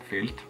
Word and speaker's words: filt: Really, that's not how you say it. Filt. Yeah, but in a back of your tongue, back of your mouth kind of way.